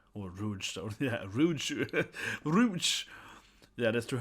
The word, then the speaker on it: Rouge: Rogue. Or Rouge. Yeah, Rouge. Rouge. Yeah, that's true. Her name isn't Rogue. It's spelled, yes, Rouge. Yeah, like Moulin Rouge.